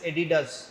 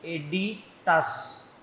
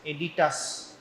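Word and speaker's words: aditus: now don't uh spell it as or don't pronounce it as edidas it is not edidas it is editas a d i t u s editas okay no student used to write edidas I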